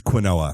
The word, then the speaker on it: quinoa: So quinoa, they did not put a pronunciation guide with, and I firmly believe it's quinoa.